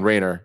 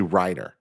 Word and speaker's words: Reiner: name wrong wait yeah i was saying rainer it's actually reiner so andrew reiner there you go uh